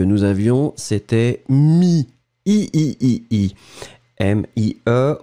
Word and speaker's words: mie: M-i-e, on ne prononce pas le E final, mi.